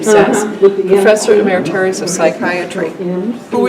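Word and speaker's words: Szasz: Again, Dr. Thomas Sass, that's how you say his name, Sass, Professor Emeritus of Psychiatry,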